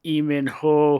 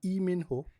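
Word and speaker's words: Lee Min-ho: Did you say Lee Min Ho? Yes, you're not supposed to pronounce the L.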